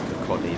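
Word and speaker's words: Kirkcaldy: It's like Kokoldi, that's how you say it.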